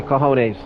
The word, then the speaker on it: cojones: for call honest uh and that's what a j not an H for all you non-speaking Spanish people uh so the same pronunciation solid uh don't know why you need to put the letter there if it's a silent letter anyway but anyway cojones